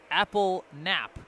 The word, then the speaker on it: Appleknap: Says Apple Nap, easier that way, from Tim's grandparents.